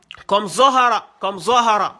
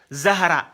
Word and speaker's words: Zohara: Donc, comme Zohara. Hein? Fatimatu Zohara. Zo au lieu de Zahara. C'est pas Zahra, c'est Zohara. Zo au niveau du ventre.